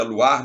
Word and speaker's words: Loire: o nome do rio, e o Loire aí se pronuncia Loire, mas se escreve L-O-I-R-E,